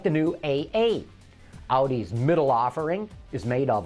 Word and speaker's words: Audi: various twizzy designs hey what starts with a and rhymes with howdy that's right Audi after taunting us with